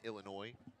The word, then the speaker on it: Illinois: The S is silent in Illinois.